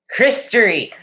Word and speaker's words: Christory: Christery. Thank you, Christery. It's a Christery. Okay, we're making that a thing for the live streams. We now officially have a Christery, which is spelled CHRISTORY. Christery.